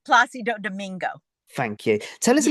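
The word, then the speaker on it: Plácido Domingo: Center Opera under the legendary is it uh police Dominico? I can't pronounce that. Yeah, no worries. It's Placido Domingo.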